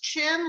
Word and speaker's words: Chin: difficulties hi cindy hello and you're pronounced chin like chin that's for the hair of your chin chin i love it